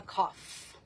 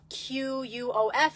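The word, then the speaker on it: קוף: now the Ally of the week is the cough cough okay uh qof if you want to look it up or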